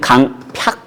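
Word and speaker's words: 강퍅: 어 그런데 그때 우리 마음을 완고하게 하면 안 됩니다.이 잘 쓰지 않는 말이는데 옛날에는 강팍 발음이 맞습니다.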